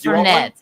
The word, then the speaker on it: Fernet: How do you pronounce it? Fernet Branca? It's Fernet.